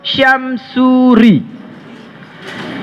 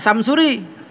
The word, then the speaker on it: Syamsuri: Nama saya Syamsuri. S pertamanya pakai y. Sin yang dipakai sin titik 3. Jangan Samsuri. Nah, itu namanya mengucapkan nama saya tidak pakai fasohah namanya itu.